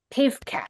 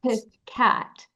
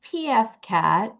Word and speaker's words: PFCAT: PIFF CAT. PIFF CAT. Not PF CAT, not PUFF CAT, but PIFF CAT.